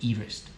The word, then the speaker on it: Everest: Sir George Everest, although he pronounced his name Everest, which doesn't it sound better?